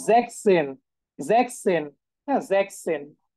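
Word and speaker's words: sechs: ওয়ান দেখেন সিক্স হ্যাঁ সিক্স কে আমরা কি বলি জ্যাক্স বলি না এটার যে উচ্চারণ সেটা একটু ডিফারেন্ট সেটা হচ্ছে জ্যাক্স এন জ্যাকসেন আচ্ছা অনেকের প্রশ্ন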